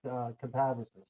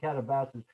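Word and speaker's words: katabasis: not to run away from catabasis. I hope I'm Yeah. pronouncing that right this time. I used to say catabasis until Steve corrected me.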